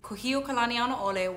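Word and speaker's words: Kūhiō Kalanianaʻole: know what i used to ride the bus kuhio kalanianole was her father and her mother's name was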